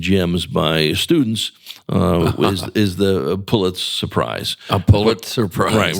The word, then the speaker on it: Pulitzer Prize: And by the way, thank you for saying Pulitzer Prize, because so many people say Pulitzer Prize, because pronunciation is another area I work in.